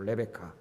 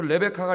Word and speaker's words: 레베카: 레베카. 그 레베카가 리브가예요. 영어로 발음하면 레베카예요. 레베카.